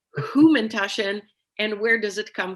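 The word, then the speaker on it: Hamantaschen: So first of all, I want to point to the way that you pronounce it. I'm very curious about the Humantashen as opposed to the Hamantashen that a lot of people say here in the United States, or in Israel, Ozen Haman.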